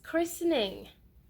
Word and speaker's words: christening: the silent T rule, it would also go with the silent T rule. Yes, it is christening.